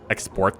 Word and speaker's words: export: can always export them export them yes export them you know that's the right and fastest on the proper syllable yeah we're gonna export